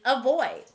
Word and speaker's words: avoid: The word is avoid. This word begins with A, but it sounds like a.